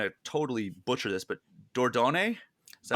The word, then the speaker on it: Dordogne: I'm going to totally butcher this, but Dordogne? Is that how you pronounce it? I believe it's Dordogne.